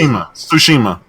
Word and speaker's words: Tsushima: Tsushima.